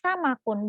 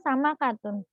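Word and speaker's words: سمك: Jadi dibacanya samakun, bukan samakatun. Nah, sama seperti namlatun.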